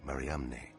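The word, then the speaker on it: Mariamne: the first name in the inscription the unique maram never found before or since on any other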